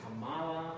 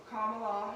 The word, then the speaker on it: Kamala: what she recommends is just think of comma you know like a little bit right comma and add allah this pronunciation of it